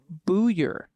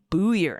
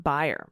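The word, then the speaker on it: Buyer: For a correction, the correct Indiana former Congressman's Byer last name is pronounced Booyer. Got it. Corrupt Okay. Indiana former Booyer. Congressman Booyer, not Byer.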